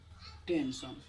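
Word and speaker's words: tension: यहाँ पर लिखा हम लोग टी ई एन टी आई ओ एन, सन 10 लग गया तो क्या हम लोग का टेंशन, ठीक है।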